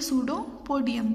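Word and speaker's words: pseudopodium: और देखिए सूडोपोडिया plural form है, सिंगुलर फॉर्म हम उसको बोलेंगे सूडोपोडियम। पी जो है इसमें साइलेंट है। This help in movement and capturing food. अब सूडोपोडिया या सूडोपोडियम क्या करते हैं, मूवमेंट करने में और उनका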